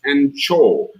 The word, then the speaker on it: Angkor: And yeah, the two boards over there, one says Angkor, which in Cambodia is pronounced Anchor, because you get another beer.